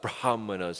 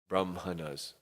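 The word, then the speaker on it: brāhmaṇas: And the braha brah mahana's and even though the brahana is spelled with a h before the m the h is pronounced after the m because there's a special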